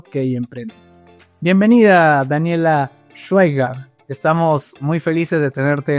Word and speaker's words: Schweiger: Y bueno, Schweiger, entonces el apellido correctamente pronunciado.